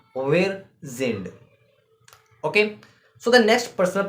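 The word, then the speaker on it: sind: German if we say then uh we said zind uh for for R right means R in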